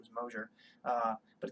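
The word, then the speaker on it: Mozzer: I've linked to it a billion times on Twitter uh I am I'm Chris Mauser on Twitter which is not how you say my last name my last name is Mosher uh but it's Chris m-o-z-z-e-r Steve is chaos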